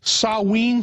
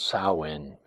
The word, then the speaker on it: Samhain: know the real name I think was called sawe is that the correct the correct pronunciation yes it was called Sinn depending upon if if depending upon Gaelic or